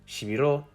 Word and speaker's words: shibiro: solely on pitch in the word shibiro the last syllable is higher pitched and therefore stressed but every syllable is